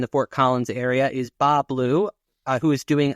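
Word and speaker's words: Bas Bleu: hey Tony it's Bob you don't pronounce the S oh it's a French French okay another intense production in the Fort Collins area is Bob blue uh who who is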